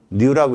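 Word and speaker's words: ν: 뉴라고 읽거든. V 아니야. 뉴.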